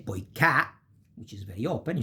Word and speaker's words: poiché: And you say poiché, which is very open, you say poiché.